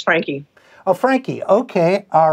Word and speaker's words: Franke: I will say my name is Franke.